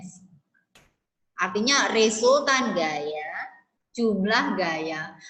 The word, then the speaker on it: sigma: Nah, apabila resultan gaya besar, nah resultan ini loh, simbolnya sigma, ini bacanya sigma.